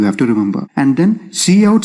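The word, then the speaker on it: cout: we have c o u d which we pronounce as c out and it stands for console output and this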